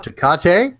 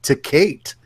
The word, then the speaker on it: Tecate: You can pronounce it Tecate, or you can pronounce it like some of the folks back home, Tecate.